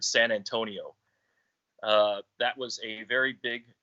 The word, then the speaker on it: San Antonio: Anthony in, I would say, English terms, but we've always kept the Mexican pronunciation or the word San Antonio.